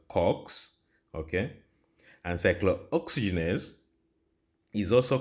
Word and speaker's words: COX: inhibit cyclooxygenase which is abbreviated as C or X pronounces Cox okay and cyclooxygenase is